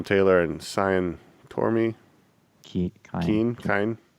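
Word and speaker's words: Cian: and cyan tormey team kind if it's irish that's a hard c usually yeah kind i thought this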